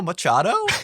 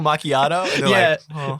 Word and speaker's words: macchiato: not the way possible people don't know how to say macchiato we have a caramel macchiato they go yeah let me get the caramel machado and i'm like oh caramel macchiato you do it in